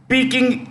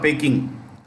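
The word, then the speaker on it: Peking: top three in Asia one peaking peaking or picking p-e-k-i-n-g peaking hero stream remember picking is the old name of Beijing okay picking University number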